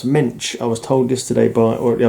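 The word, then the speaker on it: Moench: Written by Doug Mensch. Apparently it's pronounced Mensch.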